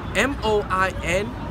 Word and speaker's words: moin: M-O-I-N in a French grammar is more on the lines of moi, moi, moi. Okay? That N is nasalized, man.